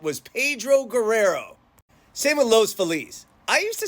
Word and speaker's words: Los Feliz: wanted to talk about San Pedro or is it San Pedro and Los fiz or is it L's fellies let's get into it